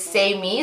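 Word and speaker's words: Saime: person sorry anyways so the phonetic spelling is say me so if you're looking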